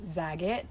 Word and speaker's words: Zagat: so zaggon is like i pronounce it zag it that's how my parents pronounced it as i was growing up other people say like